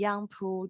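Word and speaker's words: 杨浦: I would like to tell you that the yang in the Yangpu district has the same pronunciation with yang in English, and the pu of the Yangpu district has very similar pronunciation with the English word perfect.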